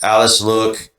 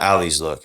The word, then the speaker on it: Alice Look: I don't really like Alice Look. That's how you say it. It's not Ali's Look.